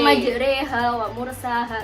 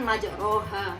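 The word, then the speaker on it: مجراها: Jadi banyak majreha wa mursaha itu. Kalau yang normalnya kan majroha. Ya, Tapi kita bacanya benar. jadi Majreha.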